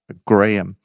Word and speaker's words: Graham: Even though I have to say, Graham, the way you spell your name threw me off a little bit. Maybe it's my dyslexia, but luckily I had Rich on hand to tell me that actually it's pronounced Graham.